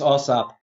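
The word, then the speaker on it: AAWSAP: Back to the work you were doing with the, would I pronounce it, OSAP? Yes, OSAP.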